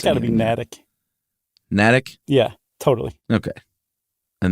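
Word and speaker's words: Natick: is in uh natic or Massachusetts how you pronounce it's got to be natic natic yeah totally okay and that's supposedly the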